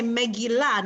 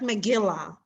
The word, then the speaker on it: Megillah: Or you say Megillah, not Megillah, right? That's the correct way to pronounce it.